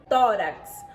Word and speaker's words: tórax: Tórax. Quantas letras temos nesta palavra? 5. E quantos fonemas? 6. Porque o X tem o som de KS.